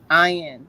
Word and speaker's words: Ayin: it interesting am right ion is pronounced like yeah so thank you um